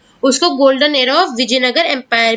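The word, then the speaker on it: Vijayanagara: तो कभी कबभार ऐसा होता है कुछ हिंदी वर्ड्स को जब हम इंग्लिश में लिखते हैं तो इसके आगे हम एक्स्ट्रा ए लगा देते हैं। हम इसे प्रोनाउंस विजयनगर ही करेंगे।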